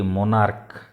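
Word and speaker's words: monarch: जेमति कि मोनार्क, मोनार्क टा सीएच टा क रो उच्चारण होउछि, तेणु से स्थान रे ईएस न लागिकरी सेठी खाली एस लागिवो।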